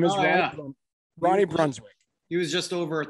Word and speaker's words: Brunswijk: His name is Ronnie Brunswick. He was just over at the house yesterday. I'm not surprised. Ronnie Brunswick which is spelled Brunswijk, owns a team in Suriname.